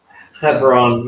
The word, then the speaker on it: Hebron: Hebron, yeah. Hebron. So like in 2 Samuel chapter 3, Second Samuel chapter. starting at verse 2, it lists David's sons that were born in Hebron.